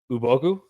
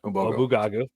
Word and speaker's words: Ubogu: It is pronounced Ubogu. Obogu, not Obugagu.